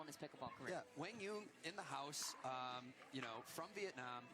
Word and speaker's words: Quang Duong: And Quang Dung. That was the proper pronunciation according to your conversation with his father.